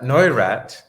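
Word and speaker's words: Neurath: in yeah so uh noirat is how you pronounce his name it looks like a new wrath but it's no iraq um he is quite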